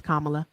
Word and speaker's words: Kamala: did not, please forgive me and help me pronounce her name. Sorry. It's okay. It's Kamala. It's okay. Mhm. Yes. So I did vote for Kamala.